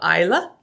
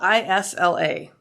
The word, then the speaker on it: Isla: It's once again, it's called the Isla. And it's spelled I-S-L-A.